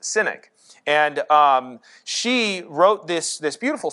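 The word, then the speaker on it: Sinach: If I'm pronouncing her name right, I think her name is pronounced Cynic.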